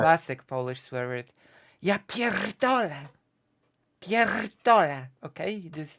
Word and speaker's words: pierdolę: Ja pierdolę. Pierdolę. Okay? That's the I r. You have the very hard R when you pronounce it, which gives it a hmm. punch, you know?